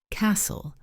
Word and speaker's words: castle: Castle silent t honest silent h.